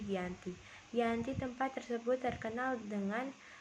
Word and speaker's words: Giyanti: yaitu di desa Candi dalam pelafalan Belanda ia disebut kianti namun sekarang ditulis menjadi Gianti Gianti tempat tersebut terkenal